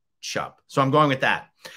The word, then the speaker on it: Tschupp: I would have said Tschupp or Tschupp, but I found a video of him speaking and he said Tschupp.